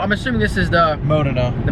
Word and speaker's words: Modena: I'm assuming this is the Modena. The Modena, Modena, however you guys pronounce it.